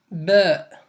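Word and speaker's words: باء: Donc ça se prononce Ba.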